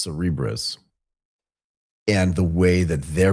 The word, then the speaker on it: Cerebras: Cerebras. Yeah, I want to say Cberus, but it's not that. It's Cerebrris.